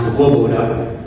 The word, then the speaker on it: Loboda: In Polish, it's actually pronounced Loboda.